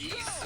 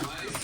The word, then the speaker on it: Ys: Is it like yeast or is it rice or how you pronounce it? Yeah, East is an amazing series.